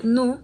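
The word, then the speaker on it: ν: Relacionado con esto está v, que se pronuncia nu, que también es una letra griega, que representa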